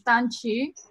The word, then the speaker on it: Danqi: All right, David Hirshanov, and then we've got, I think, pronounce it Danqi? It's Danqi. Danqi. So the Q is a CH sound.